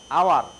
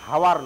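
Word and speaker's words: hour: হ্যাঁ, আওয়ার। উচ্চারণটা হাওয়ার নয়, হ, ওটা ব্যঞ্জন বর্ণ।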